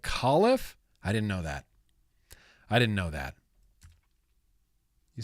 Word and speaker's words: Califf: Although I learned it's not Califf, it's Califf. Dr. Califf. It's pronounced like Califf.